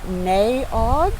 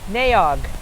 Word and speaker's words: Nay Aug: I'm not sure how to pronounce it. Naog na. Yeah, n a y n a y. N a y a u g. Two separate words. Park. Naog. Naog park.